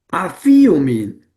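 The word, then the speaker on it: ἀφίομεν: Afíomin, afiomin, afiomin. Lleva el acento en la yota.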